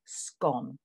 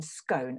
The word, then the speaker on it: scone: so you will say scone if you are in a green area of um the british isles you will pronounce this to rhyme with cone as in scone and we can see